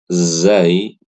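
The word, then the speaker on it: ز: Nah, Ibu-ibu yang saya muliakan, ketika membaca huruf zai ya, itu cara membacanya sama kayak kita baca huruf Z sama enggak ada bedanya za Z za z gitu ya.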